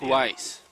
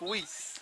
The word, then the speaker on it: Weiss: see someone oh that was louis luke weiss thank you i think it's luke wheese my friend elise oh